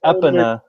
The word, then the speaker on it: Epona: a pony figurine that's not Epona now the point it's pronounced up Anna wait wait wait why